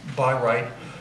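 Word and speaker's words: Bayreuth: changed this is a I guess it's pronounced by right the opera house that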